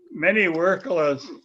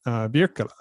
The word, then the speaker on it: Wirkkala: And of course, Finnish pronunciation being Wirkkala, right? Is that correct? The what? Wirkkala would be the Finnish pronunciation. If I said that right, I may not have.